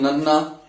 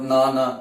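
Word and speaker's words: ਨੱਨਾ: So this becomes nanna. It's not nana.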